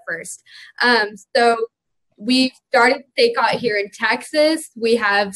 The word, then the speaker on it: SACOT: we talk about the SACA? I'm not even sure what this is. Like, I'm excited to hear what it is. It's pronounced SACOT. SACOT, sorry.